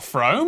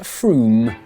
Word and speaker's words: Frome: Wrong, it's not Frome. Frome, it should be blitheringly obvious, is pronounced Froome.